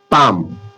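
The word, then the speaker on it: palm: एम से पहले एल आ रहा है। आ रहा है ना? तो यहां क्या होगा? पाम पाम पाम तो एल क्या हो गया?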